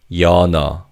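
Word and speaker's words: 연어: In terms of pronunciation, because the second syllable begins with an theim in the first syllable carries over to the second syllable. So this word is pronounced as yana.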